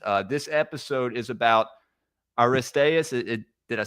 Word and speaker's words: Aristaeus: Uh, this episode is about Aristas.